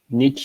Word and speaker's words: niche: Niche is the correct pronunciation? Yes, niche.